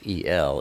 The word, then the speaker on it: El: So when you see L, E-L, it's pronounced El, my El.